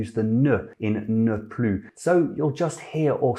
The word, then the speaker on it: plus: It's also pronounced plus when it's an adverb attached to a verb, and importantly, there's no other adverb after it.